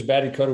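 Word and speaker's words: Batty Koda: but a lot of people forget he was Batty Coda. Is that how you say it? Yeah, he was Batty Coda.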